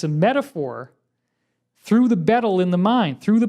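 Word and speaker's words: baetyl: And it's a little funny because the AE is kind of pronounced E, so it's more like beetle.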